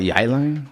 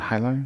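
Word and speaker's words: Jai Alai: Call it Yai Lai? Yeah, not High Lai. High Lai, whatever it is. Nobody knows how to pronounce J-A-I.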